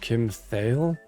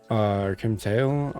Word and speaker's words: Kim Thayil: I think his name is pronounced Kim Thayil Kim Thayil on guitar and he's a badass, too.